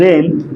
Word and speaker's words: reign: Next पढ़ेंगे रेन, क्या लिखा है, रेन, REIGN, रेन। इसमें देखेंगे तो हमारा क्या है, रेन में हमारा देखेंगे तो आई और जी साइलेंट है।